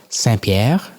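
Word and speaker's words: Saint-Pierre: I just came back from St. Pierre. I was working out there or as the locals would call it San Pierre.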